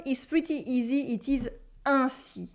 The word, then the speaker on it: ainsi: It is ainsi. Ainsi. We have a consonant after the sound un, so it stays nasal.